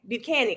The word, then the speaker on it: Buchanan: Buchanan, I think that's what it is. It rhymes with mechanic.